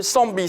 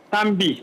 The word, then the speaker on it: Tambi: On va prendre l'avis également de monsieur Yao Séraphin qui nous appelle de Sambi. C'est bien cela, je prononce bien? Tambi, c'est Tambi. Tambi, voilà, j'y arrive.